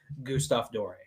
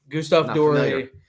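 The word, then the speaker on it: Gustave Doré: been for 20 years now i absolutely love gustav dorey gustav dory wood engravings if you ever see any pictures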